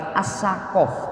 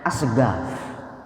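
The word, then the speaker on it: Assegaf: Itu tulisannya itu bukan Alatas tapi Al-Atos. Kita sering mendengar As-Segaf, ya, As-Segaf. Itu tulisannya bukan As-Segaf tapi As-Sakof. Kalau bahasa Arab As-Sakof, tapi mereka membacanya As-Segaf.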